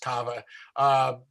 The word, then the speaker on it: Carver: The Carver, but pronounced Kava, police force would come